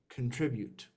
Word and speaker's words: contribute: contribute okay contribute and the last syllable is Ute you contribute contribute contribute will contribute it's almost if you're saying you and two at the U with a T at the end you cont what is